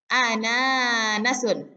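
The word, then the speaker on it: أناناس: Ananasun, yaitu nanas, ya. Jadi yang panjang itu na yang di sini, ananasun. Nah, kemudian ya.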